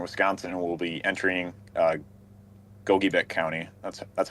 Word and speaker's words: Gogebic: And then we also have this cell here as an extreme northeastern Wisconsin, and will be entering Gogebic County. That's how you say it, right? Gogebic, yep.